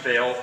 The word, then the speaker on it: Vale: It's actually Vale is how my last name is pronounced. Mr. Vale.